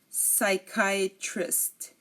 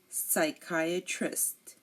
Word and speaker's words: psychiatrist: word but pseudo science psychiatrist psychiatrist psychic psychic and psychology psychology again pseudoscience psychiatrist psychic and psychology here you notice that we did not pronounce the P because it came before an us now if a word